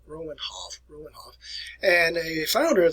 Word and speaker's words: Romanov: where you pronounce this we in america we say romanov and but if you go to russia today they pronounce it roman hoff ruinov and a founder